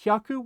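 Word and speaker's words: 百: about Haku is that Haku will change its pronunciation based on the number of hundreds that you have right so based on the number that comes before it the pronunciation for Haku is going to change just a little bit right so we already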